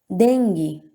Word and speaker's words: dengue: Dengue e mosquito, o U também não é pronunciado, tá certo?